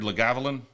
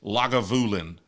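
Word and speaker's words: Lagavulin: The way you butchered Legavlin, it's not how you pronounce it. That's not how you say it. Somebody want to give me the phonetic spelling of Legalin because that's what it looks like. It It's logulin.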